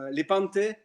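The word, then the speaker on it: Lepanto: Lepante.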